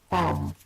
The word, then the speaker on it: balm: Balm, it's a silent L. Balm. Yeah, so that's... Or a balm? Not balm, no. Balm. Balm. Yeah. Trust me, it's true. Balm. It's like a long R.